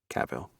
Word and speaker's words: Cavill: do you say it cheryl she thinks it's kaveel i'm sorry there's too many people talking to once what say it again i will i can't understand lissa's floridian accent caval cavil all right thank you henry cavill kyle sorry